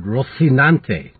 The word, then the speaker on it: Rocinante: ante or Rocinante yesterday I should have said Rocinante because we all know that in Castilian Spanish they have an eccentric pronunciation and as my father taught me many